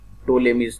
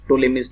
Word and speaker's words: Ptolemy's: It is known as Ptolemy's theorem. Okay. In the name T is silent, so it is known as Ptolemy's theorem.